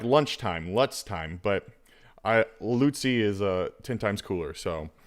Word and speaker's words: Lutze: His name is Lutze. Lutze.